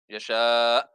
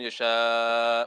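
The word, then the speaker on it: يشاء: If you stop there, there's glottal stop at the end. Yasha. The hamza has to be pronounced at the end. A lot of people, what they do is yasha. Yeah, there's no ending. Either that or they change it into a ha.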